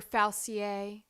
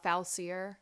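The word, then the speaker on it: Facilier: say the other day dr faucier is that how you pronounce it yeah i believe that's the pronunciation i said uh falsier i think he is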